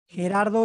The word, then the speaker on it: Gerardo: later on we have gerardo is a name so it sounds like a h in english right sounds like an like an h yeah it seems like